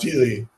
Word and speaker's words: stele: How do you pronounce that word? Steely.